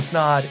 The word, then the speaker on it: Snod: My name is Ryan Snod. It rhymes with odd, and we'll see you in the next episode.